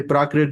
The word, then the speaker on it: Prakrit: I think you can also say Prakrit without messing up the name, right? It's simple. Prakrit. 3 syllables.